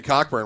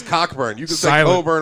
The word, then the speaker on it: Cockburn: cockburn I don't care okay is silent I went to school bro c-o-c-k-b-u-r and his Cocker burn all you want but your name is cockburn you're still an amazing